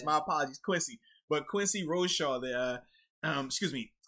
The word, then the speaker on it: Roche: i actually i owe this man apology i butchered his last name uh quincy rochet i initially caught him roche so yeah my